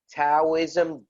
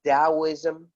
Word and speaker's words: Taoism: and in the end its Taoism although it's written with a T as in Tom this book is amazing